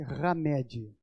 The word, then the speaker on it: Hamed: do espírito de ramed escreve-se com h e pronuncia-se ramed n só que esse